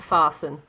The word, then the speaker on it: fasten: And as I said earlier, we don't pronounce the T in that, it's a silent T, so it's just soften. And same for fasten, okay?